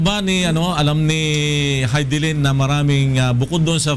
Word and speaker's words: Hidilyn: hidin o hidin ah Flor ang tamang pronunciation sa pangalan ni hilin ay hilin Diaz doun sa kanyang Facebook